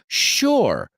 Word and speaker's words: shore: Pero sí estoy seguro de que shore se pronuncia como shore, con SH. Shore.